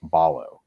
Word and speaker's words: Ballo: the Arizona media guide their pronunciation said it was Umar Balo so Balo so Balo